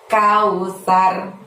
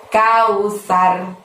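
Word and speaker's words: الكوثر: Lalu ditutup dengan lafaz kausar, pendek-pendek juga. Tapi ingat saat melafazkan sar di sana karena huruf sa, maka ujung lidahmu dorong ke gigi atas supaya bunyi S-nya itu tipis. Sar, seperti itu. Kausar.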